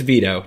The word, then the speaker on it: Vito: at number one by vito tomasicio i'm hoping i pronounced that properly i'm sure you did it's veto don't worry about it yeah veto hey it's veto all right so so